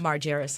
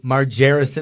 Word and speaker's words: Marjerrison: Her name is Miss Laura and her last name is pronounced Marjger. Marjger.